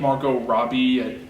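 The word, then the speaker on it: Margot Robbie: Like Margo Robbie, am I saying her name right? Margaret Robbie, yeah. Oh, Margo, whatever. You said it right.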